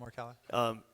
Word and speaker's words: Morikawa: Morikawa? Yeah. Colin Morikawa.